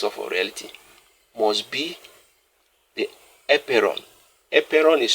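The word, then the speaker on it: apeiron: Now, Anaximander went further to say that anything that qualifies to be a basis of reality must be the epeiron. Epeiron is spelled A-P-E-I-R-O-N.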